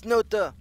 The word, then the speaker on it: Snute: I say Snute. He's like, "Hey, please stop saying Snute. It's Snute."